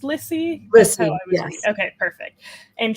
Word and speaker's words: Lissy: Is it pronounced Lissy?